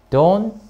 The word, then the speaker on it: don't: 그래서, don't 동사 원형. T 발음 안 합니다.